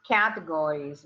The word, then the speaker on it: categories: are the categories please categories with a main accent on the first syllable categories categories into which